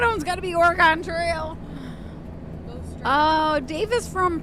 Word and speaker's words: Oregon: another word y like I usually say like orgon you know like orgon Trail that's what I think